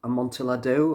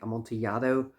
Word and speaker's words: Amontillado: The fourth track is a musical adaptation of the Cask of Amontillado, or I think Amontillado would be a more correct pronunciation.